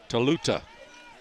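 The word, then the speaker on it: Tolutau: that's that veal tortellini Dusty how do you pronounce that total t-o-l-u-t-a-u taluta I knew I'd figure it out thank you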